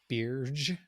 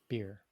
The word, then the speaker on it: Birj: So he's originally Tyros from the planet, I guess it's Birj, I Birj, I, I I think the J is silent. beer.